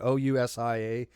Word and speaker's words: ousia: OUSIA, pronounced, I think, UASA.